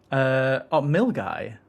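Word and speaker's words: Milngavie: Milgai.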